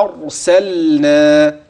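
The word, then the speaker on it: أرسلنا: انتبه انا انا انا ارسلنا هكذا مع مراعاه المد اثناء الوصل هكذا هكذا هكذا انا انا انا ارسلنا اسمع مني اللام جيدا ارسلنا هكذا هكذا هكذا ارسلنا عليهم لاحظ وضوح اللام جيدا ولاحظ معي في هذه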